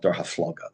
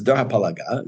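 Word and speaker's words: דור הפלגה: And Dor HaPalaga, I grew up calling it Dor HaFloga. That's how we would Dor HaFloga. This Dor HaPalaga is the really right way to say it.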